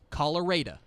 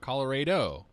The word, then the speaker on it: Colorado: In Texas, that city is pronounced Colorado. Colorado. Not Colorado.